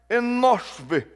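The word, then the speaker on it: אנוש: O nome Enos, a sua pronúncia é até um tanto difícil no original hebraico, Enosv.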